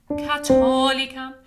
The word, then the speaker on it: catholicam: Catholicam, catholicam. And the word is catholicam, catholicam, with a hard T there, not a th, okay?